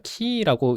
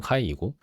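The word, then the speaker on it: χ: 그래서 키라고 읽는 이유가 거기에 있는 거예요. 영어식 발음은 카이이고 자꾸 이런 데서 좀 제가 헷갈려 하네요.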